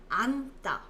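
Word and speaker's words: 앉다: can see right here the rule says if there is this looking double consonant you will read the first one you will read the first one so it will be pronounced as anta anta to stand up and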